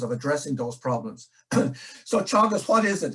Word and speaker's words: Teagasc: So Teagasc, what is it? It's pronounced Teagasc, and it means instruction or knowledge or learning. So it's a Gaelic word and it means instruction.